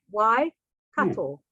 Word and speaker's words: Waikato: at the waikato river so again just to pronounce this region why which is the Maori word for water why cattle so as I said before this region is